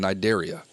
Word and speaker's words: Cnidaria: The C is silent, like in Cnidaria.